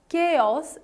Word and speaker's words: chaos: so in the start the syllable which is there in the start is actually stretched a bit so you pronounce it